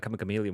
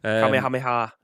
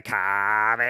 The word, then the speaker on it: Kamehameha: That Kamikamelia one. Well, that's the northern version. But like Kamehameha is, I think, is the way that you're supposed to say it, but Kamehameha, mate.